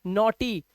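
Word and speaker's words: naughty: यहां पर देखो ये ई का उच्चारण दे रहा है, नॉटी।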